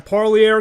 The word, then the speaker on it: Parlier: And to talk about your amateur career in California, the name of the town, I said it right the first time, Parlier, California.